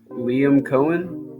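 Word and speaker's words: Liam Coen: go jagar hire uh how you pronounce that Liam Cohen Liam Cohen okay yeah yeah as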